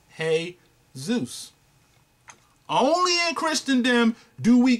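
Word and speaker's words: Jesús: Because J-E-S-U-S, brothers and sisters, is pronounced every other nation in Latin America. When you put those letters together, J-E-S-U-S, they don't call him Jesus. They call him Hey Zeus.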